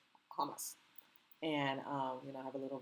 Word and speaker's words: Hamas: And I'm not saying hummus, I'm saying Hamas.